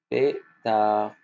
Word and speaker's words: pétard: Il y a aussi un D à la fin. Un D qu'on ne prononce pas. Ça, les enfants, le D à la fin, c'est une lettre muette. Pétard.